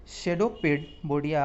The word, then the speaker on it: pseudopodia: PSEUDOPODIA, यानी P इसमें silent हो जाएगा और शेडोपोडिया आप बोल सकते हैं।